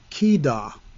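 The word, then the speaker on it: חידה: but the word proverb is another word altogether, pronounced kidah.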